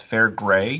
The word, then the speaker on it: Fairgray: me and um you you did mispronounce my last name it's it's fair gray fair gray fair great it leans